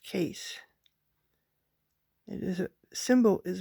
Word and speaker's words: Cheth: zayn number eight is case c-h-e-t-h pronounced case it is a symbol